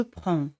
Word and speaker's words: prends: D y C no se pronuncian. Je prends.